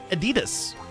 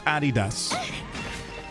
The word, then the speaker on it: Adidas: It's Nike and Adidas, okay? Not Adidas. It's Adidas and Nike.